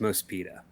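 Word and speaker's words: MOSPEADA: My understanding is it's pronounced Mospita. Okay, yeah, it seems to be an acronym. It's all caps. Yeah, and I guess it's like a portmanteau of more speed, Mospita.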